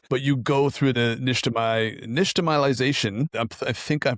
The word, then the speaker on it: nixtamalization: But you go through the nixtamalization. I think I'm pronouncing that right.